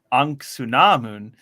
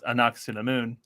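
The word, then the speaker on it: Ankhesenamun: I do find it cool how they pronounce it differently in both movies. Like in here, it's like Anksunamun, and then in the 90s movie, it's Anaxinamun.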